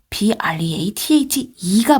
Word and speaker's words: breathe: breathe는 동사예요. breath e가 붙죠. 그러면 동사로 숨쉬다 이고 발음은 breathe. 근데 여기서 e를 빼면 breath, 숨이라는 명사입니다.